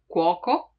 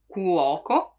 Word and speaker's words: cuoco: When K is followed by A, O, or U, it stays as a hard sound. So it's pronounced as in casa, cuoco, cuoco. You see it has both O and U, cook.